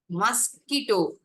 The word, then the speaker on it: mosquito: Mosquito. Actually, MOSQ-ITO. கொசு. மஸ்கிட்டோனா என்ன? கொசு. மஸ்கிட்டோ. So here the vowel letter that I am writing, that I have to write, is a silent letter.